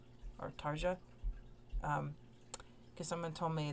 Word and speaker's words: Tarja: so uh let's get into it um and i believe this is with the woman t-a-r-g-a tarja is that how you say her name tarsha or tarja um because someone told me that i would